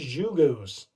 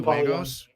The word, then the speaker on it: 3D Juegos: 3D Jugos. I think that's 3D Juegos, because in Spanish, J is pronounced as with an H.